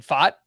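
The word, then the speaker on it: Pfaadt: annoying pick because I wanted to draft Brendan fought who is a pitching Prospect with the Diamondbacks that name is spelled p f a a d t if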